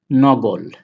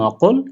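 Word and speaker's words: نقل: Transport এর আরবি হচ্ছে নগল। নগল শব্দটা মূলত নকল, কিন্তু আরব দেশে কফকে গয়ের মতো উচ্চারণ করা হয়, বিধায় এটা নকল না হয়ে কি হয়েছে?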